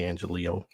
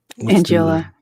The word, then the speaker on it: Angiola: And we're going to talk a lot about that with our guests, Angelillo and Ben Moss. Angiola. And I said it wrong, didn't I?